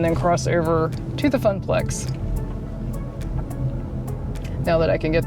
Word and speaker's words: Funplex: Sorry, Funplex. I think I said it wrong 50 times. So sorry, it's Funplex. Oh, look, there's their entrance.